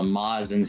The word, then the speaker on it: Majin: had told us that it was actually pronounced mazin because it was a japanese translation error we literally got corrected